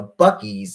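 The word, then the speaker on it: Buc-ee's: There's like a Bucky's. It's spelled like Buccee.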